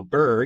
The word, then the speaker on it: BRRRR: the bur strategy so bur you can think of like being cold bur it sounds like it's spelled but with a couple extra RS so it's the b